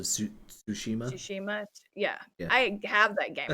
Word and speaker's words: Tsushima: to start ghost of i don't know if it's tashima or how to say it it's a tsushima yeah i have that